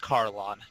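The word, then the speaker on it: Kharlan: That's pronounced Carlon, just the H is silent.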